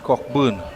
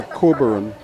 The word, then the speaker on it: Cockburn: The Ebony Sports and Cultural Club, Dwayne Cockburn at the oppos opposite end on a three of seven deliveries. you you keep calling him as cockburn the way it's spelled but I think he pronounces as Cobberon right so like